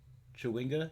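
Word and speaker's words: Chwinga: it um chardelin yep i said that right chiwinga yup i said that right what else we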